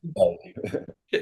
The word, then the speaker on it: Che: Is yeah, it Che or Che? How do you pronounce it? Shay, Shay, Che. but a lot of people say Shay. It's one of those. um, It is Shay.